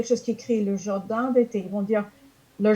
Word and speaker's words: jardin: personne a dit le jardin d'été, et après on lit comment c'est écrit, on se rend compte, ah non, je ne prononce pas le N à la fin du mot jardin.